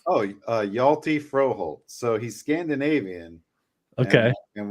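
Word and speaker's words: Hjalte Froholdt: full name oh uh yalty froh Holt so he's Scandinavian okay and when you have the the consonants like that start the H and the J the H is silent so it's yalty yelty froh holty frohold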